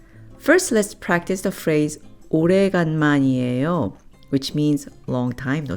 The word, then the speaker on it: 오래간만이에요: First, let's practice the phrase 오래간만이에요, which means long time no see.